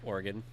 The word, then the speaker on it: Oregon: I think maybe Oregon Oregon or Washington you pronounce it fully pronouns what funny Oregon or cuz it's organ organ it's like an organ you can always